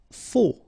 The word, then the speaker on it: faux: Faux, okay, final X not pronounced, then you get this AU together, O, faux.